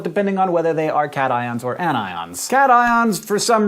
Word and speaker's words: cations: a positive charge are cat ions whereas ones that gain electrons to become negative are anions you'll notice despite the rules of English that these are pronounced cations and anions not patient's and anyons the most basic ions